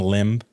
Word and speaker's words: limb: going out in the limb. You know what I mean? Limb? Yeah, limb. The B's silent, dog. It's limb. You said limb. I don't know about that. No, literally the B is silent.